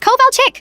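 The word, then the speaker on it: Kovalchik: It's Coal Chick?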